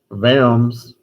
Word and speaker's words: Worms: the legislature of Japan is called a diet vams wor ms which is actually how to pronounce is a town in Germany so Luther